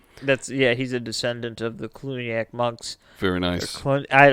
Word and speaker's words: Cluniac: Ooh, the Clooney. Yeah, George Clooney. Clooney-ac. That's where he came from. Wow. He's a descendant of the Cluniac monks.